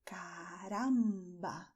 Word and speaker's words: caramba: Okay, so you're going to say caramba with the same movement of your tongue, very quickly touching your front teeth as you did in gracias. Caramba.